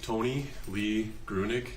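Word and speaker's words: Tony Lee Gruenig: your mask please State your full name and spell it it's uh Tony Lee grunick t-o-n-y-l-e-e-g-r-u-e-n-i-g okay Officer a couple things to keep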